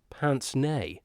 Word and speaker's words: pince-nez: The Golden Pince-Nez. Spelt Pince-Nez, but pronounced Pince-Nez. A bit of the old Francais for you.